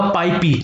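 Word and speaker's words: PyPI: इसको और अगर मैं अच्छे से प्रोनाउंस करूं तो ये होगा पाईपी।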